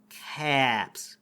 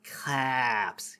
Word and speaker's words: CAPS: people that spells caps you pronounce the a like an O like it's French caps caps caps shut up Elvis